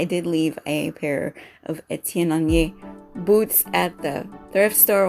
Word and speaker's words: Étienne Aigner: So but yeah, that's how to say Étienne Aigner, and that's also a little tip about what's going on in the fashion world with Étienne Aigner, the brand and items.